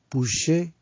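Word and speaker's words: ψυχή: Y son las palabras bios, B larga, bios, puché, que se escribe con una P, una P-S-U-J-E, puché, y la palabra zoe, que se escribe con Z, Z-O-E, zoe.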